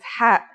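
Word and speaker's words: ح: It sounds like the sound you make when trying to cool your mouth and throat after eating something very spicy.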